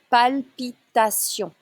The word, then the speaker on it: palpitations: Avoir des palpitations. You need to focus on the L sound here. Avoir des palpitations.